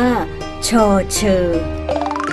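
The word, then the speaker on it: ฌ เฌอ: หมาย ถึง ต้น ไม้ พยัญชนะ ตัว ที่ 12 ใน ภาษา ไทย ต้อง อ่าน ว่า ฌเฌอ แล้ว พบ กัน ใหม่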